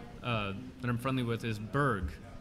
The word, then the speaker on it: Berg: Another company that I'm friendly with is Berg. It's Matt Webb and Jack Schultz's company. How do you spell that? Berg, B-E-R-G.